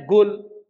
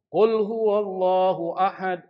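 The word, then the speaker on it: قل: Misalnya apa? Qul, bacanya gul. Qul huwallahu ahad. Qul huwallahu ahad. Itu nggak boleh.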